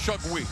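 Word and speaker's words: Şengül: It's spelled S-E-N-G-U-L, but the pronunciation is Shugui.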